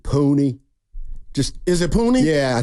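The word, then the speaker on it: Puni: Hopefully he's not puny. I guess because he's big. I think you pronounce it Pooney.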